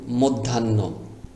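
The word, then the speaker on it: মধ্যাহ্ন: এখানে দুইটি ন আছে কিন্তু হ উচ্চারণ করা যাবে না ধকার ধন ধান আরেকটা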